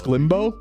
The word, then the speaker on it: Sclimbo: It's Sclimbo. Sclimbo.